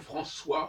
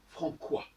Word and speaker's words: François: Parce qu'on veut que ce soit comme François aussi. Comme c'est devant un O, on met une cédille, autrement ça serait Francois.